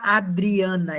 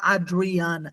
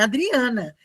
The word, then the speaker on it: Adriana: Adriana, ele vai falar Adriana. Significa que o meu nome é Adriana em inglês? Não, meu nome é Adriana. Só que eles não têm esse dri, então a pronúncia para eles fica mais difícil.